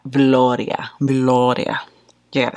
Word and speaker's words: Veloria: McGrath's Divine Rose 1, which is Veloria. And yes, you have to say it like that. Veloria.